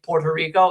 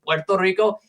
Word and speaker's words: Puerto Rico: The reason why you say why why Americans say Puerto Rico instead of the proper pronunciation Puerto Rico is because they actually changed the spelling to be with two O's because they just were too lazy to pronounce it and then it